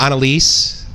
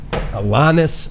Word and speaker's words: Alanis: And I think people were saying it like Annalise, right? Like it's like, no, it's Alanis Morissette.